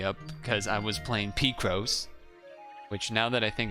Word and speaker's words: Picross: It's pronounced Picross, like picture crossword.